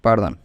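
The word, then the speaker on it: perdón: Okay, pardon in Spanish, pardon, PER once and DON at once, so it becomes pardon and you can pronounce it easily.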